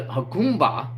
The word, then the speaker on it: Jacumba: And the way I'm seeing it is a Jacumba. It's spelled Jacumba. I guess the J is pronounced H.